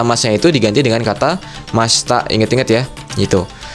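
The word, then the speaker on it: ました: Masta bacanya masta.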